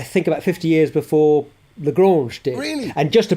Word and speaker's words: Lagrange: There are 5 Lagrange points, aren't there? Right, yes, correct. But I always think that we mispronounce it. It's Lagrange, Joseph Lagrange, wasn't it?